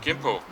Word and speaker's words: Gimpo: July 96, I arrived at Gimpo International Airport, spelled with a K, K-I-M-P-O, it's old romanization system.